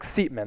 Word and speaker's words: Seatman: So Seatman, that is the proper pronunciation.